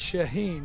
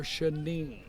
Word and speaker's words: Shaheen: It's Shaheen, right? Yeah, Shaheen. I was saying last year Shaneen, Shaneen. so it's Shaheen.